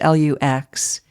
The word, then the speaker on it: Laux: I would recommend any of Thomas Lux's books, Lux. Dorianne Lux, which sounds like Lux, but it's spelled Laux.